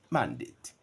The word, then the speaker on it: mandate: speech no for instance mandate as a noun and there's a verb would be stressed on the first syllable mandate and there are many